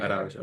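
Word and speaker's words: Araújo: Did I pronounce that wrong? Araujo, Araujo, Araujo. Araujo.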